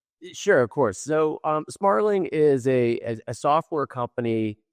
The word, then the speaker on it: Smartling: Brian, why don't you tell us what Smartling does and your actually have I got Smartling right?